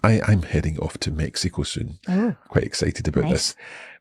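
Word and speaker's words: México: say both mhm but the RO says that you should say Mexico Mexico but do we spell it with a G or with an X we spell it with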